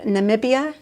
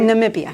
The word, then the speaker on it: Namibia: Then we went to Namibia and Borneo.